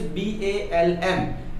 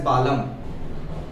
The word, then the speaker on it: balm: Balm, which is used in a headache, the spelling is B-A-L-M. It is pronunciated as balm. But if in general you have to pronunciate L is also there, so many of you can pronunciate it as balam.